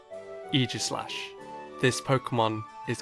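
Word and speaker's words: Aegislash: So, let's see what the correct pronunciation for this word is. Either Aegis or Aegus. Eegis. Pardon? Eegis. One more time. Eegis. Eegislash.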